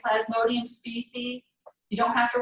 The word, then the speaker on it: Plasmodium: bacteria called Plasmodium Plasmodium I can say it like that because it's spelled exactly like I'm saying it Plasmodium see I really hate